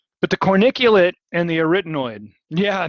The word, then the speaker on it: arytenoid: carniculate and the retinoid students have a hard time pronouncing this one so everybody say arytenoid arytenoid super boring dry a written imagine like bueller arytenoid that's the only way i can remember it is by just saying it over and over